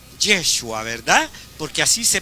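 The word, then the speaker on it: ישוע: En vocablo hebreo le decían Yeshua, ¿verdad? Porque así se pronuncia en el idioma que, hermanos, en el hebreo, legítimamente hablando, así le decían. Ahí va, decían Yeshua, ¿verdad?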